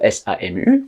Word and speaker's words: SAMU: Donc ça marche pour Samu. On dit pas S a M U, on dit Samu. Ça devient un mot.